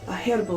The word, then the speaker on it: herbal: No, there's a fucking H in it. Yeah. So I will pronounce that H.